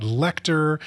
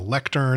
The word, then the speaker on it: Lecter: with cannibal and then also something about lecter sounding like lectern which is like where